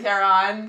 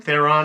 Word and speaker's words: Theron: Theron. Theron.